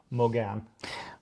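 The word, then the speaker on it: Mogán: Morgan. Puerto de Morgan. A lot of people just call it Morgan. Puerto de Morgan. Morgan. There's no R in it.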